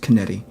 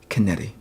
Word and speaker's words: canetti: drawing the 100 100 my last name is pronounced canetti canetti kennedy you know